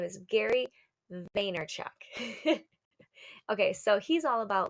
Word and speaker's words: Vaynerchuk: gonna tell you what was his name is Gary Vaynerchuk okay so he's all about like just go